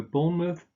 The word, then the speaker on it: Bournemouth: then there is born month again you just pronounce a schwa here and a sound rather than mouth so a Bournemouth Plymouth cydnus and then you had the names